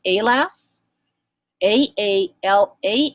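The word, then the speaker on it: AALAS: science you should know the abbreviation a ALS is pronounced a lass a a la s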